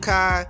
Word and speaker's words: Kai: she she fooled with Kai free free uh she called him KY she didn't know how to say his name you confused about that